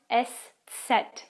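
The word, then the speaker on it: Eszett: is the fourth special letter which is called s set you don't find it at the beginning of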